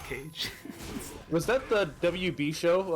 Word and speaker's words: Kage: I believe it's pronounced Cage.